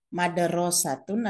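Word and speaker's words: مدرسة: mengucapkan madrosatun atau mudarrisatun madrosatun adalah sekolah Hai mudarrisatun adalah huruf perempuan suhu katanya sama hurufnya sama mint dalam roh dan tak tetapi cara membacanya bagaimana Kapan membaca mudarrisatun Kapan membaca madrosatun ini ada pada ilmu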